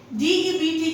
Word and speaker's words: debt: DEBT को आप date नहीं पढ़ेंगे, B is silent and it is pronounced as debt, उधार, लोन.